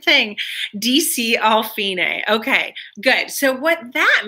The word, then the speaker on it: fine: No, it's not pronounced fine. It's fine because it's Italian.